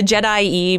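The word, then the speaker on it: Je'daii: Oh weird okay and in traditional Latin pronunciation which carries over into English pronunciation that would be pronounced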